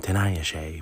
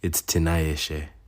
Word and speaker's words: Tinayeshe: I'm trying to get better at pronouncing my name the way that it's like intended to be pronounced in, Zimbabwean Shona intonation. It's hard because I'm American and I get used to saying Tinayeshe, but it's Tinayeshe.